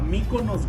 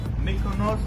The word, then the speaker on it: Mikonos: the city hall city hall yeah how to pronounce the restaurant a mikko nose grill mykonos grill and malfunction in milpitas yes thank